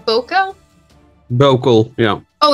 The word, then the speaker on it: Bokel: Well, and I was going to say Bokel, but I didn't want to sound too American, so I was trying to put a little...